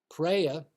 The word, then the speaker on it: preya: Preya, pronounced preya, and shreya, pronounced shreya.